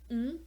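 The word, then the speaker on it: ん: And as I mentioned in the first video, there is one character that is just a consonant and that is pronounced N, so it can be either written as an N or as an M.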